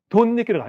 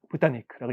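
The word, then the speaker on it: 豚肉: 토리니크가 있는게 일반적이고 그니까 닭고기 돼지고기 도육인데 도니크라 있습니다. 붓타니크라고 있는게 일반적이죠. 또 가볼까요?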